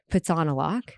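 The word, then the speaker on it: Phitsanulok: And I get a call in the middle of the night that Marley is rushed to the emergency in Pitsanalak, which is how you say it.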